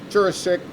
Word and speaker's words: Juracek: mount prospect please join me in welcoming jurissic mayor of mount prospect thank you jim and thank you for pronouncing my name properly i appreciate that this